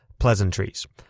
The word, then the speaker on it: pleasantries: You say this similar to how you would compliment perhaps some maples growing nearby by saying, those are some pleasant trees. But instead, you put the emphasis on that first syllable, pleasantries.